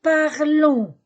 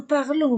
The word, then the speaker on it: parlons: parle la même prononciation nous parlons n s je ne prononce pas le S vous parlez e Z